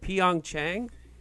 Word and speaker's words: Pyeongchang: Olympics in pion it took me forever to pronounce it great but Pyeongchang is everything Pyeongchang like yeah yeah it's been